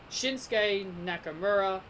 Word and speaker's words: Shinsuke Nakamura: Uso, Cesaro, Jeff Hardy, Sami Zayn, Dolph Ziggler, Shinsuke Nakamura, as how it should be pronounced, Big E, John Morrison, Sheamus, Mustafa Ali, and Edge.